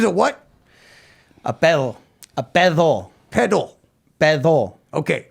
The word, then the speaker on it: pedo: Yeah, I was say it is spelled P E D O. But you sp You say the D like a th.